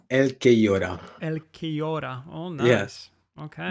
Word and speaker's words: Elquellora: It's a Spanish nickname, so it's Elquellora.